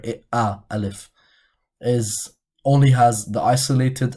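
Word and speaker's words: ألف: alphabet which is the it's called alif but we pronounce it as a in the or a in the english language and in this letter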